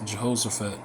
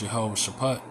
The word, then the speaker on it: Jehoshaphat: of uh Yahawash Shapat, but in the scriptures it says Jehoshaphat. All right. But the proper way to say it is Yahawah Shapat.